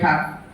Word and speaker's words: talk: WALK ವಾಕ್, TALK ಟಾಕ್, L silent in English.